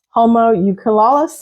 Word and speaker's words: homunculus: This is the homunculus, I guess is how you say it. Homunculus.